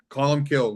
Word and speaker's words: Colum Cille: Call them Callum Kill. We've had every type of pronunciation you could imagine, right?